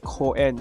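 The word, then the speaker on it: 公園: It's pronounced Koen, so Koen.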